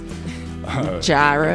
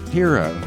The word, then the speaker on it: gyro: You know, it's just not how you say it. It's not how you say it. How do you say it? Hero. It's a hero.